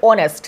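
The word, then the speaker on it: honest: 4 নম্বর হচ্ছে অনেস্ট, যখন আমরা অনেস্ট বলি তখন ও উচ্চারণ হয়, যদিও এটা কনসোনেন্ট কিন্তু উচ্চারণ হচ্ছে বাউলের মতো, যার কারণে এখানে এ না বসে এন বসবে।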